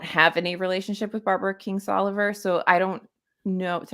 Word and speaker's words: Kingsolver: I always want to call her King's Lover, and I can't get the I'm letters right in her Barbara, name.